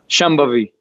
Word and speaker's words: Shambhavi: Can you pronounce Shambhavi? Shambhavi.